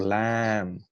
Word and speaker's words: lamb: level of English language or lamb which is l a m where you're not actually pronouncing the sound of the letter B.